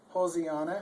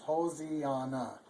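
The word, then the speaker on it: Hosianna: Here's your Hosiana. Of course, the S is pronounced like a Z, and A always says a sound, so it's an O says O, so it's Hosiana.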